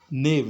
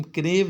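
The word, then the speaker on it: knave: नेव यहाँ पे के साइलेंट है, ध्यान रखना। जैसे नॉलेज, नॉलेज में के साइलेंट होता है, उस तरह यहाँ पे भी नेव। तो यहाँ पे इसको हम क्रेव नहीं पढ़ेंगे, ध्यान रखना। तो ने एन यहाँ पे के साइलेंट है, तो इसको हम नेव पढ़ेंगे।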